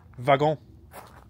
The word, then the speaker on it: wagon: is the same in English then it'll be pronounced with a with a v vagon um last year when we came um to